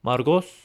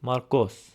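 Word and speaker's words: Մարկոս: The name Mark. In Western Armenian is Margos. In Eastern Armenian is Marcos.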